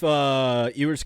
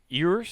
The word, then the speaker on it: Ewers: If Ewers comes back next year, because he's a junior this year.